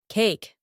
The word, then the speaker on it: cake: If there is a letter E at the end of a short word, it is not pronounced, and the letter A is pronounced as A.